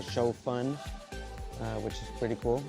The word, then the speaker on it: pho: we're inside Saigon and I know I said faux at the beginning trying to give you guys